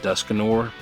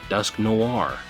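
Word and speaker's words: Dusknoir: So interesting the the pronunciation pronun pronunciation of that Pokemon name because I used to call it Duskanor. Um, but you know, Dusk Noir, that's pretty interesting.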